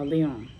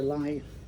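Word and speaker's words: Lyon: and Irenaeus of uh Leon. So, or lie, you know, that's how you say it.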